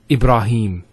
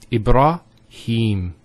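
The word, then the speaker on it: إبراهيم: of the a sound next word ibrahim so here ib nodes followed by the alif once again it's followed by the so here is the elongation of the e sound it's he hem ibrahim similarly here we have kareem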